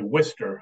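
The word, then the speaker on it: Worcester: w Worchester but it they say Worster up there so depends on where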